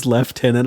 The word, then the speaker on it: lieutenant: They put lieutenant in there, left tenant.